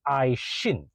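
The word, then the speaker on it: Aisin: So now, to start with, despite the spelling, the company's name is actually pronounced Aishin with an implied H between S and I.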